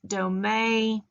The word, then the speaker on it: domme: And as you see, some people pronounce it dome, which is used to refer to a female dominant.